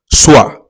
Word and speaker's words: soir: Soir, s o i r. O i in French is pronounced as wa.